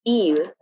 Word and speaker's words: île: For E and U, you want to give more emphasis to the pronunciation. A good example of this would be île, which means island in